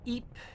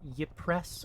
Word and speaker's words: Ypres: because looking at that, you'd think it was Ypres or something like that. No, it's Ypres.